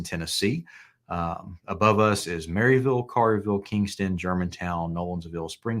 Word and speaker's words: Maryville: for for the funeral it's not Maryville it's marville yeah that's right I